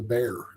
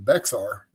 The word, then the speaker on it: Bexar: had on the list is how do you pronounce the bear? So because I was able to by looking at it in the Midwest, it's the Bexar, but I was like, as an official Texan, I bet the real pronunciation.